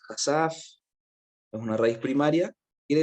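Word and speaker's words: חשף: Dice que viene del 2834, su pronunciación es hasaf, es una raíz primaria, quiere decir desnudar, desnudar, ¿ok?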